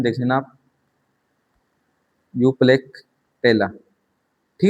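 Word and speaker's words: Euplectella: स्पोंजिला, साइकन, यूप्लेक्टेला, ये pronunciation देख लेना आप, यूप्लेक्टेला।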